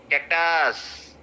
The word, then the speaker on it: cactus: Okay, Sadri people, what they do is their style of speaking is they will stress the last syllable. So they will say napkin. Cactus, right?